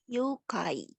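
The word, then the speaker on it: ゆうかい: yang bisa baca lagi youkai Oke betul nih Yukai tadi Seperti yang dibilang Kalau ada aku berarti panjang ya dibacanya you kai Yukai artinya nih penculikan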